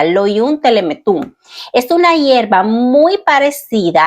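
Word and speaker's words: Lolium temulentum: Dice, la cizaña tiene un nombre botánico que es Lolium teletum. Temuletum, perdón, así se pronuncia, Loium telemetum.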